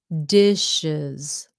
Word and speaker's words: dishes: one dishes z sound dishes okay this is one of those sounds dishes dishes z sound when it ends and sounds like those sounds it has to sound like a z oh how about this